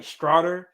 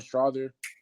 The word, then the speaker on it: Strawther: I want to say it's like Strouder. Oh, Julian Strawther.